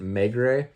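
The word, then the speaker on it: Maigret: uh simeon's uh Mega I believe you pronounce it megray uh Meg Ray season one they've already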